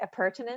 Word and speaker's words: appurtenance: Appurtenance?